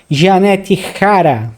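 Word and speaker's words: Jeannette Jara: O conservador derrotou a candidata comunista Janette Hara, porque o J se pronuncia R em espanhol, né? Então o candidato de direita Rosé Antônio Castu Janette Hara no segundo turno e foi eleito presidente do Chile nesse domingo.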